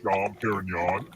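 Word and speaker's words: Dom Pérignon: Who is Dom Perignon? Guy who... Type of steak? I thought it was a wine. Huh? His name just kind of rhymes with filet mignon.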